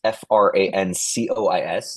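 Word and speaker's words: François: It's f R A N C O I S, not S W A a as I've seen at Starbucks. Uh even though it's pronounced like that, Francois.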